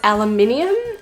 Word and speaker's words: aluminium: my american friends here in australia we pronounce aluminine as aluminium so just that's a